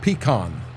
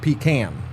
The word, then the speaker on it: pecan: Um I I I met with peon growers uh out in California and they call it peon, not pecan.